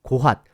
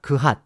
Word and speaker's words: 고핫: 게르손, 고핫, 무라리입니다. 참고로 고핫은 발음에 따라 그핫 또는 그한 등으로 부르기도 합니다.